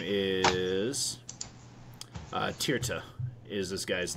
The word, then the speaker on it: Tirta: there it is uh his name is uh tirta is this guy's name that you need to meet up with how'd you spell that i'll drop it in chat for you